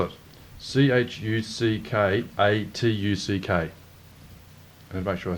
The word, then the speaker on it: Chuckatuck: spell it. CHUCKATUCK.